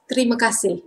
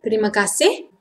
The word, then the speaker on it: terima kasih: Thanks in Malay is terima kasih. But normally we like to say fast, terima kasih. Terima kasih, thanks so much. Terima kasih banyak-banyak.